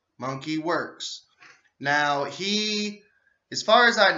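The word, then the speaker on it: Monkey Werx: Monkey Works, it's spelled Monkey, Monkey Works. It's not WORKS, it is WERX. Monkey Works.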